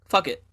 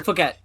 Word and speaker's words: Phuket: and fucking first off, the name of the place, Phuket, Fuck it. right? Fuck it. Well, Phuket, technically, I think, but fuck it. They pronounce it Phuket, Yeah, Phuket.